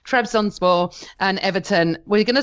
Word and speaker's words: Trabzonspor: Trabzonspor. I can't believe you pronounced that the way you did.